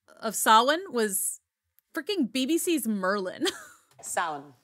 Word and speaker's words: Samhain: How do you say it? Because it looks like Samhain. Yeah. It does, and it drives me crazy in movies or TV shows where they're like, Samhain. Samhain, like Samhain. They pronounce it all sorts of weird ways. It's Samhain. It just is.